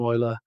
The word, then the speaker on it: Euler: The name Ola is derived from a mathematician from the 18th century. It's pronounced differently to how it looks like it should be pronounced and all the rest of it.